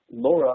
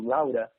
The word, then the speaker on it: Laura: And her name is actually pronounced Laura or Laura alternatively as the day goes by.